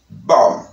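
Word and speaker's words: bomb: Como ejemplo, par exemple, nous gagnons bom, bom, bom, bom. OK, tu es la B a pas prononcé, la B no suena.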